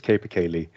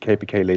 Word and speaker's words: capercaillie: In Norwegian, it's tiur, but the way we pronounce it in English is capercaillie.